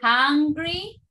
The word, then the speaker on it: hungry: Okay, wait. Uh-huh. Hungry. Hungry. Like this. Hungry. Hungry. Ah. And the other one is angry. Angry. Okay. Angry. That is the difference. Be careful. Hungry, angry.